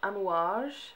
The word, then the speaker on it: Amouage: item we have today is this one from an wash thing that's how you pronounce it and it's their sunshine perfume this